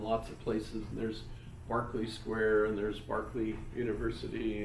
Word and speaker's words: Berkeley: It's Berkeley if you're talking about the university, and not Barclay.